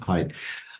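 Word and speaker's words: Haidt: DT h a DT it's pronounced height Jonathan height uh his writings and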